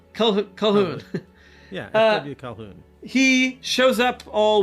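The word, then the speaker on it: Colqhoun: he shows up just say call hoon calhoun yeah he shows up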